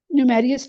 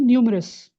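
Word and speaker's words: numerous: Sorry ऐसे भी कह I have ji I have I have many call न्यूमेरियस ऐसे भी कह सकते हैं न्यूमेरियस नहीं न्यूमरस न्यूमरस न्यूमरस हां दोबारा बताएं क्या सेंटेंस बनाया आपने I have many many cause mehndi सब बनता है।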